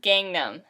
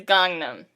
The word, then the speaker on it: Gangnam: when people mispronounce it it is not gangnam it is gangnam yeah um and my